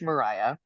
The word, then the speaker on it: Mariha: do I pronounce that because there's like an H in there now it's okay yeah so you know I have my parents to thank for that um it is Mariah Mariah okay here's a funny